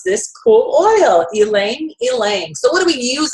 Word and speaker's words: ylang ylang: it Lang langang or Y Lang y Lang it's actually the Y is a strong e so now you know how to pronounce this cool oil elang elang so what do we